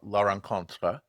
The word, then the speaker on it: La Rencontre: So you're on to your second company now, La Rencontre. My French pronunciation is horrible, so say it the correct way for everyone, please.